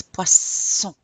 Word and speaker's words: poisson: And remember because it has two s we're pronouncing it as an s poisson. If it only had one sun poison like poison.